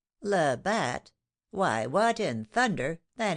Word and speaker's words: Labat: Labat.